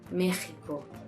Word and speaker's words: México: Además, algunos nombres de América representan el sonido /j/ con la letra "x". "México".